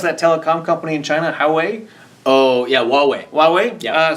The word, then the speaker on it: Huawei: How do you pronounce that telecom company in China? Huawei.